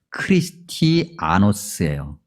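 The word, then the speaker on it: Χριστιανός: 그리스도인이라고 하는 이 단어를 원래 성경에 기록되어 있는 원래의 발음대로 이야기하면 크리스티아노스예요.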